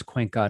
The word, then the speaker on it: Cuenca: keep mispronouncing his name no that is actually how will cuenca pronounces his last name it is cuenca not kwanku so we have been mispronouncing